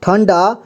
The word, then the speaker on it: ठंडा: डा अंडा अगला है ठ ये ठ में अंक की मात्रा लगा है तो हम इसे पढ़ेंगे ठन डा ठीक है ठन इसके बाद डा ठंडा यहां पर ज में